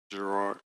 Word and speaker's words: Garard: What is your preferred last name pronunciation? Gerard.